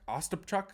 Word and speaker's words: Ostapchuk: nice pass from Zach o achuk ostapchuk I think is how you say it um yeah it was